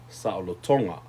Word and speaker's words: salotonga: That's to be free, saloto, and then freedom, salotonga. So you see how you put the emphasis on the second to the last syllable when you add the nga, and there you have it, right?